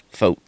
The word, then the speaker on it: Fought: Fought? Yeah. It's like it rhymes with boat. Foat.